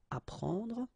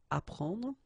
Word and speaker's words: apprendre: The first one, AP, so app, you will get apprendre, apprendre, okay, you don't pronounce the double P, apprendre, so here is what it means.